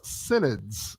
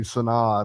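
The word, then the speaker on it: synod: back there all right it's actually pronounce senid s i n is emphasized and then I D at the end I think it should be sonad or Senate uh or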